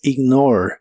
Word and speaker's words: ignore: presente de inglés es ignore no se pronuncia la e del final solo ignore